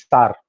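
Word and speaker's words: sour: कोई शोर बोलता है, कोई कुछ, अब कुछ बोलता है. दिस प्रोनाउंसिएशन इज सार.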